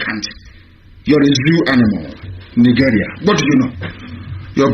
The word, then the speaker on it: Nigeria: Nigeria.